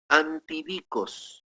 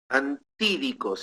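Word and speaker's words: ἀντίδικος: viene traducida del griego antidicos, antídicos en realidad, con acento en la E, antídicos, que quiere decir oponente, en pleito judicial.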